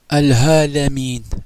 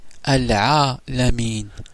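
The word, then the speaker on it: العالمين: Ce n'est pas Al-Halamin, mais Al-Alamin.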